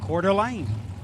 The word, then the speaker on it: Coeur d'Alene: Just got a voice message from Chris Northup, and he said it's pronounced Coeur d'Alene.